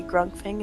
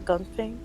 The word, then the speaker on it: Grungping: And so I look at my notes and I see Grungping, not Gungping. Grung, it is a plural. He's very upset when you make his name wrong.